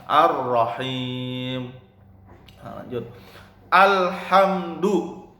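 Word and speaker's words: الرحيم: Ar-Rahim, haknya hak tipis. Ar-Rahim, jangan Ar-Rahim, itu salah. Yang benar Ar-Rahim.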